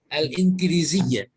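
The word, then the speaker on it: الإنجليزية: Inqiliziyah. Al-Inqiliziyah tuh. Al-Inqiliziyah. Sebetulnya kalau Injiliziyah gitu ya, Injiliziyah. K itu jadi ga, tapi kita bacanya Injiliziyah aja. Al-Injiliziyah.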